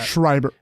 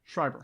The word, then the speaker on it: Schreiber: man according to Showtime scriber I'm totally mispronouncing my schreiber is it Schreiber Schreiber Schreiber Schreiber are we saying Schreiber Schreiber Schreiber Schreiber Shriver Schreiber will play Earth's most advanced